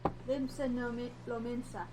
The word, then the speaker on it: Limsa Lominsa: Limsa Lominsa, right?